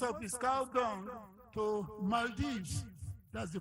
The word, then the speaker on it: Maldives: Wild exports, most of this cow dung to Maldives, that's the pronunciation, Maldives, Vietnam, and United States.